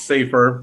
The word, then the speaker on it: Safe4r: the letter r so it's pronounced safer but it's s-a-f-e the